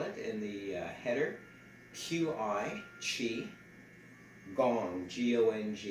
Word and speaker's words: qigong: in the header q-i chi gong g-o-n-g you could say chi gong or you can spell